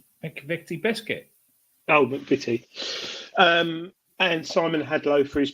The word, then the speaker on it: McVitie: Oh, McVitie.